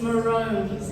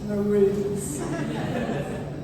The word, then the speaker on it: Maroons: The correct pronunciation for what I thought was the best team in the whole world until maybe this year, I don't really know what happened, is Maroons. It's not Maroons.